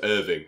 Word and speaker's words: Irving: It's not Iringworth, is it? It's Irving. That's how you say it.